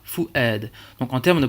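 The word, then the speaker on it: فؤاد: Fu'ad, on a une hamza avec un a, puisque derrière on a un alif. Eh bien on prononcera fu'ad.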